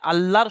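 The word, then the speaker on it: الله: এই আল্লাহ শব্দ ডান দিকে যদি জবর থাকে, যেমন এখানে লামের উপরে জবর আছে আর এখানে দালের উপরে পেশ আছে, জবর এবং পেশ তাহলে আল্লাহর শব্দটা ল উচ্চারণ হয়, আল্লাহ। এখানে যদি কেউ বলে আল্লাহ, তাহলে ভুল হবে।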